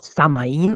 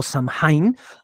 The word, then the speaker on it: Samhain: De nuevo, repito, escríbase Samhain, que mucha gente lee de nuevo como Samaín o Samhain, pero en realidad es el Samhain.